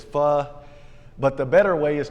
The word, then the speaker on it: pho: And so we go in, and I don't know what's proper to pronounce it, pho or pho. Probably a redneck like me pronounces it pho, but it's pho.